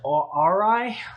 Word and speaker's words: Aurai: So this company that reached out to me, and I believe they pronounce it Aurai, like kind of, I don't know, it's A-U-R-A-I.